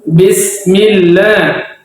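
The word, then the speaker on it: بِسْمِ اللَّهِ: itu sangat sering terjadi padahal ba itu harus jelas dibaca bis bismillah jangan bismillah bismillahah itu sangat sering terjadi kesalahan orang baca Alfatihah jadi kalau kita yang sudah belajar baca dengan jelas bis Bismillahi ya Ba jelas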